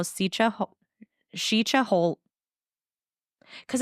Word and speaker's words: Sica: so this is a legend of how sicha shicha whole cuz it's spelled Sika like s i CA but it's pronounced shicha so trips me up so chicha Hollow became